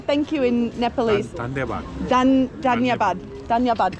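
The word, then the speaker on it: धन्यवाद: Dhanyabad. Dhanyabad. Danyabad. Danyabad, yes.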